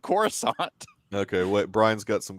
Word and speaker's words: Coruscant: wall I guess that's better than saying Cora scat or something it's how it was pronounced because no one because no one but George pronounced it Coruscant okay what Brian's got